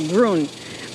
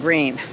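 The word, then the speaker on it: Gruene: It's spelled G-R-U-E-N-E, so Grün, but most people call it Green.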